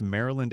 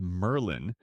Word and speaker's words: Maryland: A man who mispronounced Maryland as Merlin, stretched certain vowels in